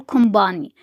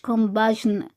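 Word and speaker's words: compagnie: كومباني لا كومباني كومباني حرف الجي لما يجي بعده حرف الان مش بيتنطق فبنقول كومباني مش كومباجن بحر بحر بحر لامير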